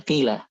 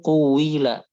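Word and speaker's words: قيل: Harusnya harusnya dia dibaca quila tadi cuma karena beberapa hal jadi dia dibacanya qila. Nah, kemudian yang baca pakai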